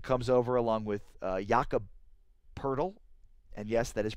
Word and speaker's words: Poeltl: DeRozan comes over along with Jakob Poeltl. And yes, that is pronounced Poeltl.